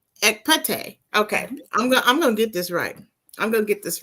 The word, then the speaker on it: Ekpete: So, Soror Ekpete. Close. Close. Oh my gosh. Very close. Very close. Okay. All right. Pronounce it right for me, Soror. Ekpete. Ekpete.